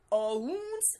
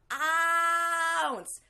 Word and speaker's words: ounce: Second from Gelin is, it's not ounce, it's ounce.